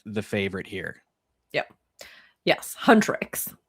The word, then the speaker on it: Huntrix: Huntrix. I do believe is how you say it.